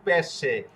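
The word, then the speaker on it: pesce: যেরকম পেশে। এই যে দেখুন এস অক্ষর। এস অক্ষরের পরে সি অক্ষর। সি অক্ষরের পরে এ অক্ষর। তো আমাদের নিয়ম কি? এস অক্ষরের পরে সি অক্ষর থাকতে হবে এবং সি অক্ষরের পরে এ অক্ষর থাকতে হবে।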